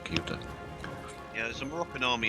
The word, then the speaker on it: Ceuta: However, this is pronounced Ceuta.